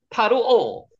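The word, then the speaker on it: פַּרְעֹה: 사레 파로 바로의 고관들도 파로오 바로가 파로오라고 발음합니다.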